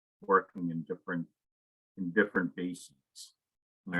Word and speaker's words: bases: just said basis b-a-s-e-s looks an awful lot like bases all right and it actually is pronounced that way also it's just i try